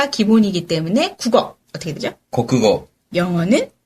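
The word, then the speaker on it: 国語: 자 그럼 일단 과목을 알아야 대답을 하니까 과목의 발음을 배워 보겠습니다 자 일단 구경수 기본이기 때문에 국어 어떻게 되죠 고고 영어는 에고 수학은 수가 그렇죠 고고 에고 스가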